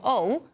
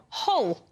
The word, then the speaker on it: Hull: So instead of saying I'm from Hull, which is how we would say it, we say I'm from Hull, which then leads to that overpronunciation of the letter H.